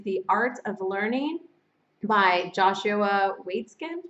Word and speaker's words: Joshua Waitzkin: And lastly, we did get a book recommendation, and it is The Art of Learning by Joshua Waitzkin. That's how you pronounce it, Joshua Waitzkin.